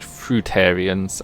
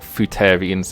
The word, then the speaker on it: fruitarians: those boys down there so fute apparently i mispronounced fruitarians and um we got footarians instead so fruitarians are um people that only